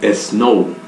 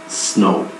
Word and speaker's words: snow: No tiene una E delante de la S. Entonces usted tendería a decir snow. Será incorrecto. La forma correcta, como debe pronunciarla, es snow. Snow.